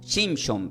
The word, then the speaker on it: Shimshon: En hebreo, el nombre Sansón se pronuncia como Shimshon, pero no son los